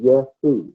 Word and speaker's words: Jehu: So when they wrote it and put Jehu, they were pronouncing at that time Yehu. And that's exactly how you pronounce his name, Yehu in Hebrew. So, but over time, then people forget that. The J morphs into the J sound, and he becomes Jehu.